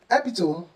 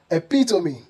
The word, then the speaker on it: epitome: Did you say epitome or hyperbole? Wrong. They should be pronounced as epitome, epitome, and hyperbole, hyperbole. The E at the end is pronounced, making these words 4 syllables instead of 3.